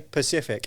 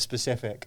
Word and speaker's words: specific: Oh, speaking of that, you know when people say Pacific instead of specific?